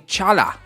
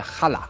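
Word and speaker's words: challah: of the breads where I was saying Chala but realistically it's a Hala and uh my English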